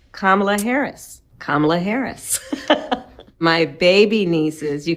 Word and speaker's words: Kamala: I'm Kamala Harris, and this is the Wired autocomplete interview.